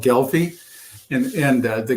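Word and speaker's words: Gelbvieh: raise and you tell us how the they're pronounced please it's it's a German breed it's called gelfi and and the galy breed of cattle uh was introduced in this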